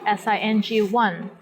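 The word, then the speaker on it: 星: letters or you ping here is an example of a syllable in your ping seng which means star sing one here the initial sound is s and final sound is in ing and the syllable is in the first tone the tones in european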